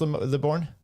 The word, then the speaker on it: Libourne: How do you pronounce Libourne?